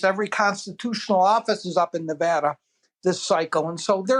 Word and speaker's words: Nevada: and I'm going to pronounce the name of the state correctly which is Nevada I wasn't going to